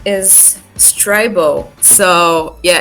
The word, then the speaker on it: Strybo: basically my name is streibo so yeah it's not storybo or streevo it's strivo which means that rhymes